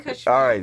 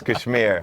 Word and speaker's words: KSHMR: or Kashmir project whatever however you want to pronounce it we're doing Kashmir for this video original yeah we got brown people in the house so it's Kashmir so I opted for a weighted MIDI controller